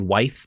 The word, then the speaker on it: Wythe: It's spelled Wythe, but it's pronounced Wythe, apparently.